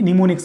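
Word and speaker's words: mnemonics: बना दी गई जिसको निमोनिक्स बोलते हैं। क्या बोलते हैं, ये एम साइलेंट है, क्या बोलते हैं, निमोनिक्स। आपको याद रखना है, निमोनिक्स बोलते हैं।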